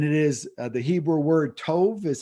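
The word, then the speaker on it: טוב: of ecclesiastes and it is the hebrew word tov is how it's pronounced tov is how it's spelled and has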